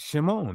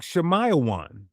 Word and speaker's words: Shimon: The original is tight. Shimon. That's it. Two syllables. So when you actually line up the Greek and Latin evidence, they don't support a sound like shamayawan. They consistently point back to Shimon and that limits how